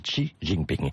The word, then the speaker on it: Xi Jinping: Je crois qu'on dit Xi Jinping.